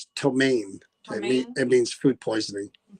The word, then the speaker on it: ptomaine: They said it's pronounced ptomaine.